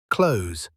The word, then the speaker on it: clothes: Most of the time, we just say clothes, like close the door. I'm putting on my clothes. It sounds exactly the same.